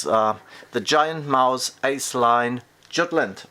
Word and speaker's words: Jutland: It's the Giant Mouse Ace Line Jutland, or Jutland, how in Germany we would pronounce it.